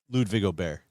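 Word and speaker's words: Ludvig Åberg: Johnson Wagner kind of backed us down on the pronunciation. He's like, you guys got to commit to Ludwig Aubert.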